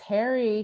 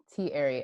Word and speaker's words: Thierry: us you you Thierry Thierry emphasis on the e thank you for that